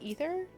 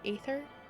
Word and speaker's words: Aether: find out that uh it's pronounced ether and not ather my whole life I've been saying Aether and I recently learned that's wrong it's supposed to be ether apparently yeah I can